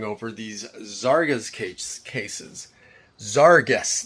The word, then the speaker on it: Zarges: these zaras Cas cases zarus that's how you say it Zar and guest right zaras so um I got